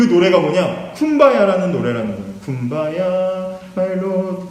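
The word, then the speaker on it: Kumbaya: 근데 이 쿰바야라는 말은요, 원래는 come by here예요. come by here. 이곳으로 오소서라는 건데 흑인식으로 발음하다 보니까 쿰바야 하는 거예요.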